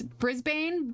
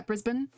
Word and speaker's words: Brisbane: me, my instinct is Brisbane, but I know it's like Brisbane, isn't it? Brisbane? Yeah, Brisbane. Like you don't pronounce, like, it's not a hard A, it's Brisbane.